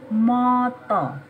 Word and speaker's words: mata: motto ngaku kalau ah dalam bahasa Jawa bacanya Oh tulisannya matang bacanya motto mata ya irung hidung